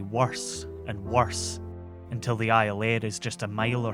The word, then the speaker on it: Iolaire: The Iolaire, Gaelic for eagle and so frequently mispronounced as Iolaire that it becomes its name, is loaded up quickly